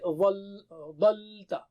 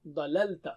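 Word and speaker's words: ظللت: So you will not say dhalta or dhanta, dhalta. No, dhalalta.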